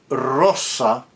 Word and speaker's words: rosa: When it's intervocalic as in the word rosa or cos, we don't go as in Italian rosa coa.